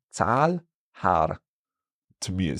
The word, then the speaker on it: Zahl: Or for Zahl, the number, we have a long A because we have that H after.